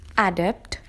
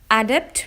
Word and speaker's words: adept: the first word is adapt adapt is a two syllable word the two syllables are and depth the syllable stress is on the second syllable which is depth this makes it adapt adapt means proficient or very